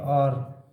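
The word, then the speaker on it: hour: और इसमें अपन उच्चारण करके देखें तो इसकी साउंड आती है आर और ओ यू आर। इसमें भी एच क्या है? साइलेंट।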